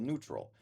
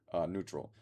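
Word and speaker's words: Nütrl: So, I got a different vodka seltzer called Neutral. It's spelled lowercase n u with the umlaut, which is the two little dots over it and then t r l. Neutral.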